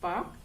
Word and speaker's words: Palk: इसका नाम है पाक स्ट्रेट, SPALK, पाक, एल साइलेंट है, पाक स्ट्रेट है, इसको बोलते हैं, ये नेम है इसका।